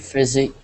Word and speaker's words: physical: Great physical. Physical. Great physical force. Yeah, so in physical, the C is pronounced like a K.